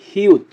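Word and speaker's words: 히읗: হিউতের উচ্চারণ হবে হ এবং ত এর মতো।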